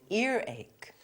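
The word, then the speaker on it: earache: There's no H before ear and there's no H before ache. So, it's ear ache.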